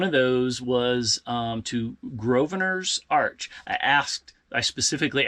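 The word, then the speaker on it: Grosvenor: those was um to groer Arch I asked I specifically asked a local and they said the S is silent it looks like it would be grossers but it's gravers at least according to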